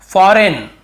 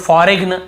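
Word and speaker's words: foreign: फॉरेन, बहुत से लोग फॉरेग्न ऐसे पढ़ते हैं, मतलब याद रखने के लिए कई लोग ऐसे फॉरेग्न ऐसे बोल देते हैं, लेकिन हमें बोलना नहीं है। लिखते समय हाँ आप गलत पढ़ के लिख सकते हो, लेकिन आदत ना पड़ जाए कहीं आपकी। फॉरेग्न ऐसे नहीं पढ़ने में, फॉरेन पढ़ना। यहाँ पर भी जी साइलेंट है।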